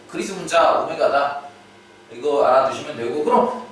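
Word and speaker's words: ω: 자, 참고로 이제 이 기호에 대해서 모르시는 분들도 많을 텐데 이 기호는 우리가 이제 W라고 보통 읽지 않습니다. 되게 영어 알파벳에 이제 W랑 되게 비슷하게 생겼죠. 근데 이 녀석은 이제 오메가라고 읽는 녀석이에요. 오메가.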